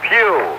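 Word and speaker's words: Pough: And the other man, number 85, is Ernest Pugh. It's P-O-U-G-H, but pronounced as the Pew in church, this being Sunday.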